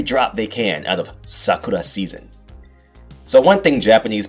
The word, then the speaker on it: sakura: Yes, the cherry blossom, also known as sakura in Japan. If you're an American Yankee, like me, you might pronounce it Sakura, like the girl from Naruto.